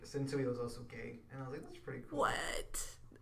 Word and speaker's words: Sensui: So we have Toguro, and then we have I thought it was Sensui. Yeah. I think you're saying it wrong. I am. Sensui.